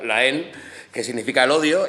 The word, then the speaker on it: La Haine: popularmente la gente dice la haine hola jaime pero bueno es una viene de una palabra francesa que se pronuncia la en que significa el odio